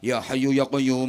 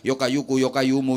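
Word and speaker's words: يا حي يا قيوم: Dikasih ijazah sama kiai suruh baca ya hayyu ya qayyum, ya hayyu ya qayyum, ya hayyu ya qayyum. Keliru bacanya. Yo kayu, yo kayumu.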